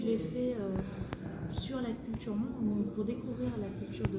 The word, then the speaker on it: Hmong: Ton premier album, Mong, c'est pas difficile à dire, mais il faut bien le prononcer.